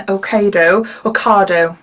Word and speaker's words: Ocado: This will cost you £2.70 and it's available in Asda, Morrisons, Tesco, Waitrose and Ocado, that's how you say it, isn't it?